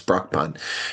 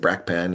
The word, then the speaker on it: Brakpan: off for cons and how they pronounce Brockpan because that's how I pronounce it. Brock Pan uh but someone said Bracken and who speak for cons